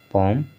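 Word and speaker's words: palm: तो सभी वर्ड में क्या है कि यम से पहले यल आया हुआ है और यल का उच्चारण नहीं हो रहा है।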